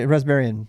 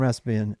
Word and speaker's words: Raspbian: The standard Raspberry Pi, Raspbian. Yeah. Raspbian. Raspbian, yeah. I spell it right.